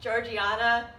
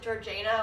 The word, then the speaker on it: Georgiana: it would be pronounced Georgiana but but for some reason they pronounce it Georgina it just doesn't make